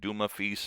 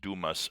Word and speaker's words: Dumas: and the judge, like Zeus and Mercury, like Dumaf, and Pear, which is pronounced Duma, Feast, and Pear, even though it looks like Dumas, Fil and Pear, or PE.